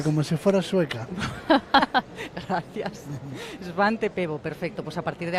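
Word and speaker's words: Svante Pääbo: Y vamos a hablar con él del eh del premio Esvante Pebo. Lo primero que le voy a preguntar es si estoy pronunciando bien el nombre. Muy bien, perfectamente, como si fuera sueca. Gracias, Svante Pebo.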